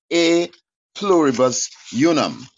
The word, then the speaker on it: E pluribus unum: The E is in Latin. It's pronounced A pluribus unum.